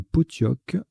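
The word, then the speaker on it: pottock: Ça se prononce bien Potioc.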